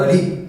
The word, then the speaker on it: ऋ: इसका उच्चारण कैसे होता है दोस्तों? री होता है। क्या होता है? री होता है। ये जो आपके सामने लिखा है वो ररी।